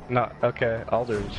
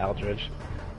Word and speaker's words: Aldridge: Aldridge, not Aldridge. That just threw me off because, I thought it'd be pronounced Al, because it's A-L.